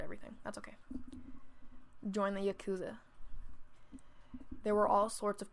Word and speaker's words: yakuza: And I've said it wrong the entire time. It's Yakuza, correct? I'm gonna Google it later. I'll Google it later. I'm gonna say Yakiza. It's Yakuza. Yep, I'm gonna have to go back and record.